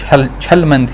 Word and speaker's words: Aschelminthes: उनको पता होगा कि इसको मैं हेलम थीस नहीं छल मंथ बुलाता हूं छल क्यों बुलाता हूं